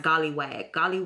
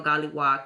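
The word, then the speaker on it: golliwog: And she created this gollywag or gollywag, I think it's pronounced gollywag or gollywog character.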